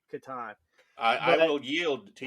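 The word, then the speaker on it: Catan: sellers a Katon um how do you pronounce the game settlers I've always said settlers of Katan yeah uh is that right I don't know so I had I had Pete Finland on a couple weeks ago who was the CEO of Katan Studios and uh he he pronounced it Katan so I feel Vindicated that it's probably Katan I I will yield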